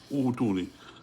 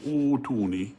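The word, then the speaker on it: ائتوني: So what happens over here, if you continue with the word before it, you wouldn't pronounce the Hamzatul wasl, you connect to it with the Hamza. But because you begin with it, you have to look at the third letter, which is a Dhamma. So this Hamzatul wasl gets a Dhamma, but then this Hamza sakina changes to a waw. So utuni, that's how you pronounce it, utuni.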